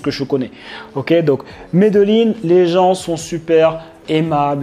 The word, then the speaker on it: Medellín: Medellín, ils disent, ça se prononce comme ça, Medellín.